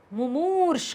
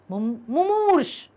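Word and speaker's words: मुमूर्षु: पहला माँ छोटाऊ की मात्रा, दूसरा माँ बड़ाऊ की मात्रा, सा से षटकोण ऊपर रा, मुमूर्ष।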